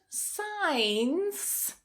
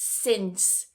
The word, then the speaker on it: since: How do you pronounce this one? If you said signs, which I hear a lot, then it's since.